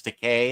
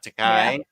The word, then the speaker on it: Takei: I'm looking forward to the Takei book. That's actually how I've always remembered it's Takei and not Takai.